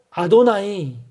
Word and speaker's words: 아도나이: 하고 부르는 거죠 그래서 이 단어가 나오면 그 자 음대로 발음하는 것이 아니라 너무 그 여호와 라고 하는 이름이 거룩하고 의미하기 때문에 발을 그 발음대로 잡음 대 로 발음하는 것이 아니라 주 또는 주님 을 뜻하는 아도나이 이렇게 발음을 하는 겁니다 그래서 그 y hwa